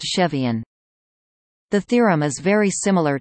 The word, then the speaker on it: Cevian: CEVA is pronounced Chaeva, Cevian is pronounced Chevian.